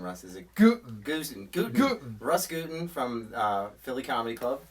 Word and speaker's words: Gutin: is it good Russ guten from uh Philly comedy club that's like gluten but you take the ls yeah he used to